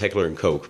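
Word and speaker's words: Heckler & Koch: say i think it is actually pronounced heckler and coke but i think that's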